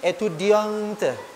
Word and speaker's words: étudiante: Tetapi ketika yang berbicara itu adalah seorang perempuan, maka di akhir étudiant itu dibubuhkan huruf E. Maka dibacanya je suis étudiante.